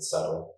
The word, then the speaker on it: subtle: Uh yes, uh we pronounce it subtle.